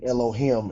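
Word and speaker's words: אלוהים: And in Hebrew, the I never makes a I like in him. Like you might hear people say Elohim, and it always makes an E like a double E sound.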